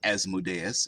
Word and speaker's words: Asmodeus: actually there because the people are worshippers of Asmodeus, or Asmodeus, as some like to pronounce it.